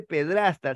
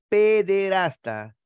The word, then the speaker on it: pederasta: Y no se dice pedrasta, sino pederasta, ¿correcto?